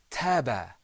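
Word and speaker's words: تاب: The first word is pronounced taba.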